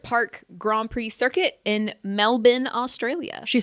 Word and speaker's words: Melbourne: Grand Prix circuit in Melbourne Australia she said it right Mel she said it correct not burn like I would have definitely said melbour 100% got to say it with the a accent melbour that makes sense